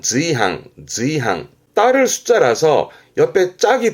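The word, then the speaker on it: 随伴: 수시로 쓰는 수필의 숫자기도 하고 그럼 지금은 수반인데 발음은 지항, 지항.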